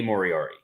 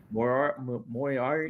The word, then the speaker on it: Moriarty: Moriarty. Lee Moriarty. Moriarty. Nope, you're adding extra letters. He's like the Sherlock Holmes villain, Moriarty.